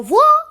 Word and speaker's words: ظ: So letter dha must be pronounced from the tongue tip.